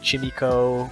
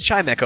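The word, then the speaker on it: Chimecho: for these pokemon so like i think chineko was like chimiko someone said right but it is chime echo right but the thing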